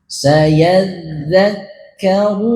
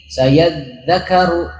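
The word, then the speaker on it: سَيَذَّكَّرُ: Jadi jangan bacanya gini, sayadzakaru, jangan, tapi ditasdid di kaf juga. Dal ditasdid, kaf ditasdid.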